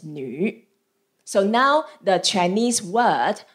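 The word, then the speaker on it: 女: And the character of a woman pronounced as nu.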